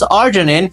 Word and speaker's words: arginine: Whenever you pronounce arginine, it sounds like R, so we use R as an abbreviation form for arginine.